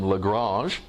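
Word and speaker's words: Lagrange: l5 incidentally regarding pronunciation the frenchman himself who was of Italian origin that worked in France pronounce his name legrasse but it sounds fakie and weird to talk about the lagrangian point so now that's an English word I'm just gonna call it Lagrangian otherwise it'd be garbage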